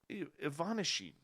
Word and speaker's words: Ivanishin: found when cosmonaut anatoly ivanishin ivanishin you see that nice russian pronunciation there broke open a tea bag oh no it's ivana sheet okay second syllable gets the gets the heavy pronunciation anyways they open a